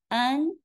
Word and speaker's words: Anne: So final and that's our target sound. If you're looking for a reference point, this sound matches well with the female given name an in both the French and the British pronunciations.